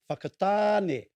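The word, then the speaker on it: Whakatāne: little way from there is fakatane may sound like a swear word but is a quite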